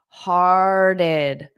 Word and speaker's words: hearted: So this is two syllables as well. We have heart. But then this T is going to turn into more of a soft flap T, which could be a D sound.